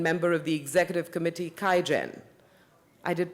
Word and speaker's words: QIAGEN: Thomas Schweins, Vice President, Strategy and Marketing and member of the Executive Committee, QIAGEN. I did pronounce QIAGEN right.